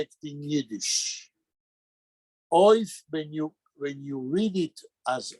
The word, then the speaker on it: אויף: Oif. Like oi.